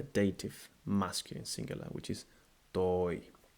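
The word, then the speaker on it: τῷ: Now, some people do not stress the pronunciation of the iota subscript, and that happens a lot. I've observed in countries that speak English. Instead of, for instance, I, they say ah, and they lengthen it.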